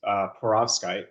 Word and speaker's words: perovskite: And he actually developed the first perovskite. That's the right way to say it.